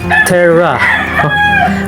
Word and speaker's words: tera: let's start first with tera tera is is pronounced as terra with the symbol of capital letter t an